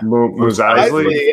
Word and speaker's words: Mos Eisley: Mos Eisley.